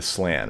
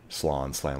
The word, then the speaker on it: Slann: Lizardmen world is spawned with solely protecting the Slann right there, the Slann, whatever you want to pronounce it.